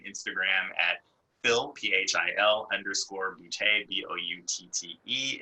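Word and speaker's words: Boutte: at phil p-h-i-l underscore bootay b-o-u-t-t-e if my last name doesn't sound funny you're not saying it right yes from new orleans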